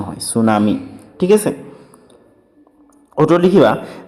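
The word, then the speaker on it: tsunami: সুনামি কি সুনামি শব্দ ইংরেজি বানানটি আছেটিটু মানে সাইলেন্ট টিট প্রনাউন্স না হয় সুনামি ঠিক আছে অটো লিখিবা যে হাগরের তড়িৎ ভূমিকপ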